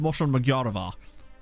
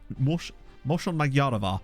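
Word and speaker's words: Mosonmagyaróvár: Oh, I believe it's pronounced Moshon Magyaravar. Moshon Magyaravar, maybe.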